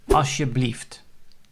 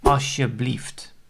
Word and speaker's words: alsjeblieft: So that word is alsjeblieft. And the L, the second letter of the word, is not pronounced, or it's hardly audible. So you will say alsjeblieft.